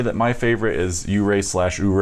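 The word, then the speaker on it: Ouray: yeah and I think I keep saying hooray - but I think it's pronounced you Ray I think they need to put a why in front if you're the five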